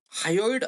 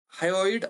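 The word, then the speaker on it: hyoid: एक हाड असत त्याला त्याला हायड असं म्हटलं जात हाड एच वाय ओ I high हायड असं म्हटलं जात प्रोनन्सशन तुम्ही करून घ्या तर डोक्यात किती हाड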